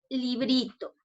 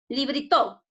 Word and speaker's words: librito: Librito. A ver, pásame el librito. ¿Correcto? No, profesora, es librito. En la bri, correcto, entonces está mal.